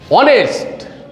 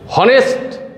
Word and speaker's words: honest: ব্যতিক্রম আরেকটা শব্দ অনেস্ট, HONEST, অনেস্ট। এখানে অনেস্টের উচ্চারণ হয়েছে অনেস্ট। অনেস্টের উচ্চারণ, এটার উচ্চারণ হয়েছে স্বরে উচ্চারণ হয়েছে অর্থাৎ হয়েছে। অনেস্ট, এই এইচের উচ্চারণ হয় নাই। এইচের উচ্চারণ হইলে হয়তো হ, হনেস্ট, হ উচ্চারণ হয় নি, এইচের উচ্চারণ হয়নি।